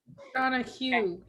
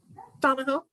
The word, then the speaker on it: Donahoe: don't know oh see i thought it was donna hugh and it was just pronounced weird or that spelled weird it is spelled weird yeah now that's how he tells everybody how to spell it do no hoe like gardening we are still recording